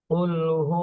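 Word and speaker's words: قُلْ: এখানে কফ বলতে হবে কুল গলার মাঝখান থেকে উচ্চারণ করতে হবে কুল কফ লাম পেশ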